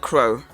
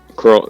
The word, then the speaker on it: Kroll: Oh, Charlotte Crow. Kroll. I think it's Kroll is pronounced.